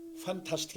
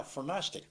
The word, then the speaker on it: fantastic: 이제부터는 fantastic이 아니라 fantastic. 파라시디. 왜냐면 N 다음에 트가 있거든. 네, 그러니까는 비음 다음에 트는 오. 묵음이 돼서 발음하지 않는다. 그게 미국 발음이에요.